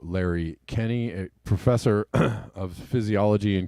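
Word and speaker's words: Kenney: Larry Kenny, a professor of physiology and kinesiology, that's how it's pronounced.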